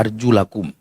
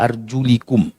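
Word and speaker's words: أرجلكم: Ada dua riwayat yang satunya wa arjulikum. Jadi bukan wa arjulakum tapi wa arjulikum. Dua-duanya sahih.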